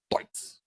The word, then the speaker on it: Deutz: The Deutz is out. That's a very German way to pronounce it, isn't it? Deutz.